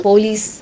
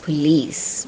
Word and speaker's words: police: say do dear etc for another example police is a word that we say in Malayala The Standard English pronunciation for that particular word is police in between the sounds P and L in standard English the sound uh should come in Malayalam this particular